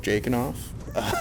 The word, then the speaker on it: Jakin: My podcast it's called Jake and Off.